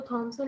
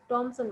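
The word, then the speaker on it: Thomasin: टॉमसन बुलाते हैं, वो थॉमसन नहीं बुलाते हैं। उनका ये कहना है कि ये टॉमसन वर्ड है, लफ्स नेम है, ठीक है। तो इसको वो टॉमसन बुलाते हैं। तो आपके पास दो टाइप की प्रोनाउंसिएशन है, दोनों में से आप कोई भी चूज करके बोल सकते हैं।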